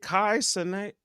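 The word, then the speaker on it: Kai Cenat: What are your thoughts on is it Kai Senate? Yeah. Is that how you pronounce it?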